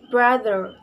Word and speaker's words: brother: It is pronounced brother, brother. Has the main stress at the beginning of this word.